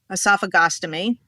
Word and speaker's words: esophagostomy: Then he was like, let's do, how do you pronounce it? Esophagostomy.